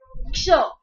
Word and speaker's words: क्ष: जैसे क्ष, क्ष व्यंजन में क और श ऐसे दो व्यंजन मिले हुए नजर आते हैं, इसीलिए इसे संयुक्त व्यंजन कहा जाता है।